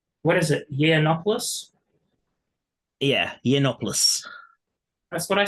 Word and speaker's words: Yiannopoulos: I I know I'm just cringing that you mispronounced his last name what is it yiannopoulos yeah ianopoulos that's what I said I thought